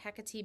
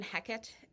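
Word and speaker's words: Hecate: will be pronouncing it heti because that is the Greek pronunciation of the word so of the name so that's what I use and even heckit or heate is technically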